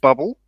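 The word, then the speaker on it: Bublé: of Michael bé um it is pronounced bubble and his first name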